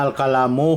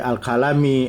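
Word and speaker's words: الكلامُ: Marco nya dengan dhomah Jadi tidak salah lagi bacanya tidak boleh alami atau allamah karena dia marfu' tanda marutnya dengan dhommah jadi al-kalamu Hi hua hua tak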